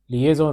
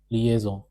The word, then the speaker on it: liaison: Why does that z sound appear in their pronunciation? So today we are going to learn about the liaison rule in the simplest way.